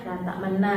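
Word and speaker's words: لا تأمنّا: Aslinya kan la ta'manuna. Tetapi lafadznya la ta'manna, cara bacanya la ta'manna, karena di situ kan di huruf nun itu kan ada dhamma atau tasydid.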